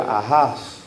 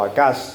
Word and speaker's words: Ahaz: Era Ahaz, ¿verdad? O Acaz, también se pronuncia de varias maneras ese nombre.